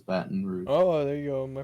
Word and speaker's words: Baton Rouge: It's 3 syllables. Baton Rouge.